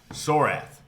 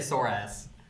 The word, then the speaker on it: Sorath: Sorath, Seer of Fates. At least you said it right. You didn't say sore ass.